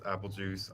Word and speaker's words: Aepelgeuse: It's Aepelgeuse. It's Aepelgeuse spelled like Beetlejuice, for those who don't know.